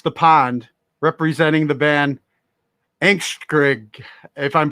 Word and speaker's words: Angstskrig: pond, representing the band Angstskrig, if I'm pronouncing that correctly. Pretty much. It's Angstskrig in Danish, but yeah, Angstskrig is cool.